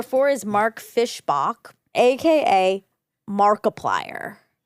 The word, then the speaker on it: Markiplier: Okay, number four is Mark Fischbach, aka Markiplier. Ooh, like multiply.